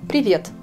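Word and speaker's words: привет: Vous connaissez déjà ce mot en russe, salut, quand vous le prononcez en russe, c'est le mot privet. Je vous écris ce mot. Privet. Je mets l'accent sur la deuxième syllabe.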